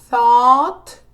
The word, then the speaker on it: thought: teach, taught, think, thought, pronúncia taught, de pensar, de ensinar, e thought, de pensar. Taught, thought. Told, tell, told, throw, threw, understand, understood, wake, woke, write, wrote.